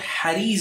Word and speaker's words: Hariz: Some people mispronounce it Hurayz. No, it's Hariz ibn Uthman, a well-known Nasibi.